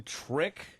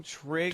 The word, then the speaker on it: Trig: And by the way, the kid's name, she named him Trick. Isn't that his name? Trig?